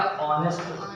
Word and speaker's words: honest: क्योंकि यहाँ पर H को प्रोनाउंसिएशन नहीं होता है, H साइलेंट रहता। तो आप जब इसको H साइलेंट कर देंगे तो बचा क्या? ऑनेस्ट, ONEST, ऑनेस्ट, ऑनेस्ट।